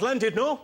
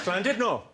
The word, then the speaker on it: Llandudno: And a bloke down the front, face like thunder, went, "It's not Llandudno, you bloody fool. It's Llandudno. In Wales, the double L is pronounced with a C."